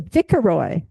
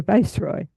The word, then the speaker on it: viceroy: a kid and you don't know how to pronounce it, it's a vicaroy. But when you grow up as an adult, you know it's a viceroy.